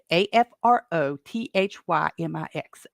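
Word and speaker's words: afrothymix: a screen name that is pronounced afrothymics a-f-r-o-t-h-y-m-i-x afro thy mix gave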